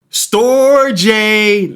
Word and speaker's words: Storj: will tell let's go to the next coin store J now for those of you who've been watching